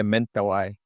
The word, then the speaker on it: Mentawai: Yeah, Mentawai correct. is how do you say? Yeah, mental I.